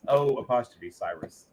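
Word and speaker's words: O'Cyrus: It's like the name Cyrus, but it's O''. So it's O''Cyrus.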